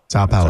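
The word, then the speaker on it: São Paulo: I may be mispronouncing Sao Paulo. Sao Paulo. Sao? Is it Sao? Sao Paulo, yeah.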